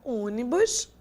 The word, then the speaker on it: ônibus: aqui pro nosso slide que a nossa palavra ônibus ônibus ea palavra técnico são palavras que não tem a última nenê a penúltima sílaba como sendo a tônica nós temos a